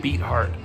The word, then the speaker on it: Beathard: pretty sure i'm saying it right now cj beat hart is uh is probably starting quarterback for these